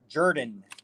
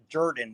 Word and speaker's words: Jordan: And the last name is actually pronounced Jordan. It's who? It's actually, my last name is actually pronounced Jordan. The O is, it's kind of like when you say word.